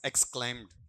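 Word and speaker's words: exclaimed: में चला जाएगा आपका एक्सक्लेम्ड ये एक्सक्लेम्ड ऐसा नहीं है एक्सक्लेम्ड एक्स है ना एस नहीं लोगे ऐसा पहले इस तरीके से एक्सक्लेम्ड तब उच्चारण सही आएगा आपका फिर अगली बात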